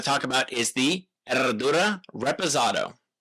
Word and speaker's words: Herradura: The brand Erdura is challenging for Americans because it's got the silent H and the double rolled R. And again, I don't pretend to always be able to pronounce it correctly. So, you will often hear this brand anglicized as Herodora.